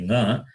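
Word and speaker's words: ङ: So here, when we say nga, it is throat plus nose, guttural plus nasal. Not nya, it is nga.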